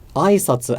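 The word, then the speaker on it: 挨拶: in that sense, but aisatsu has the accent on the first mora. So if I said aisatsu, greetings, as a question, it would be aisatsu. So it would start high, go low, and then there would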